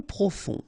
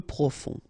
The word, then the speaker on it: profond: Royal royal soroen mitoyen peu profond final not pronounced peu profond mince ok mince irrité droit so final pronounced stress.